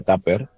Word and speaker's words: TAPR: que una licencia que se llama la licencia Tapper, eh, que se escribe TAPR, y, y casi en paralelo pues